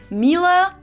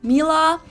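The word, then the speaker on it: Miele: And it's not exactly pronounced wrong in English, but English native speakers usually say something like mila. Mila. Um, so it usually sounds more like an a in the end, whereas in German we say ma.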